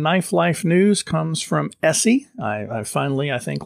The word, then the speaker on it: ESEE: final story in knife life news comes from essie i i finally i think learned how to pronounce that one bob e-s-e-e essie is that right yeah that's right it's essie